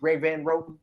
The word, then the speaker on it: Greg Van Roten: Is it Greg Van Roten?